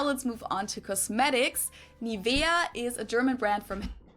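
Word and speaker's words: Nivea: native speakers usually say niia in German we n so the emphasis is on the E Nia hair Cosmetics brand that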